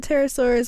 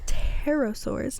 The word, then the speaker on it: pterosaur: Little tail, A little silent P. Early research suggested that pterosaurs were cold-blooded animals that were more suited to gliding than actively flying. However, scientists later discovered that some pterosaurs... am I just going to say it with a P?